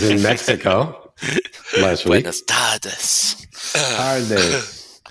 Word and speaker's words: tardes: Buenas tardes. Tardes. Got to roll your R's, Mark.